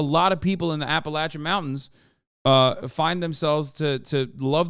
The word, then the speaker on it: Appalachian: Appalachian is how you say it.